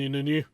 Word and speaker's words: İnönü: But you find lots of common things between Salazar and Inunu. How am I doing on the pronunciation?